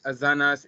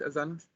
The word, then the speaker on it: asanas: like do you think azanas is enough uh or you may suggest something else did i pronounce it right as honest yes yes you got it right all right okay so